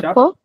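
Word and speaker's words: chapeaux: Deixa de chapô. Deixa de chapô. Não pronunci o X, mas tá lá marchando plural, né?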